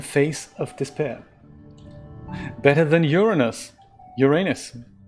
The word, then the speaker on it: Uranus: might not be possible Uranus yeah that's what I'm thinking and thing with the pronounciation on the first syllable right rod yeah we